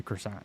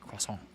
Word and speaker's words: croissant: the united states and i say crescent roll or i'm going to say croissant i'm not going to say it like cross hole you know so that's